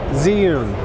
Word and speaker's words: Zhiyun: I say it Zhiyun. That's just how I pronounce it.